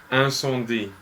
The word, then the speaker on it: Incendies: Okay, we haven't been pronouncing it properly. I think it's Incendies.